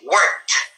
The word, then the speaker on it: worked: And it is pronounced as T, worked.